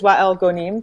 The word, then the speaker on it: Wael Ghonim: he's known as Wael Ghonim that's basically how it's pronounced here it's for that's a little bit